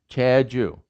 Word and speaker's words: Jeju: h j okay so this jeju the island is pronounced cha choo cha joo it sounds like ch it sounds like jay chair jew now the romanization uh